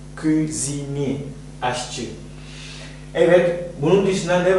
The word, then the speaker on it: cuisinier: Cuisinier diye telaffuz ediyor. Cuisinier, aşçı.